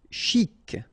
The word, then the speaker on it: chic: e so stressant stressant chic ok you pronounce the final c and then c chic de ban lieu.